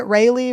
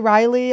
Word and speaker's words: Raleigh: going to be in how do you guys say it rayleigh riley everyone's mad at me for saying it wrong raleigh raleigh we'll spell it different